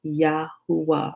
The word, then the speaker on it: Yahuwah: name for all generations and it's pronounced yahuwah right every nation on the